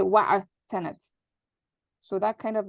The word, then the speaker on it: وَاعْتَنَتْ: When you have that, you don't pronounce the e. You don't say wa'i'tanat. You just say wa'atanat.